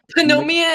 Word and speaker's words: pneumonia: The G is silent. Pneumonia.